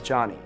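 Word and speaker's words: Jony: oh right oh okay my name is johnny j-o-n-y oh john oh and no h no i'm not too happy someone to pronounce my name like joanie if i were to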